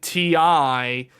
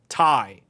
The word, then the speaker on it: Ti: but it's actually called Tai. It is not called TI. The correct pronunciation is Tai, the RTX 3080 TAI.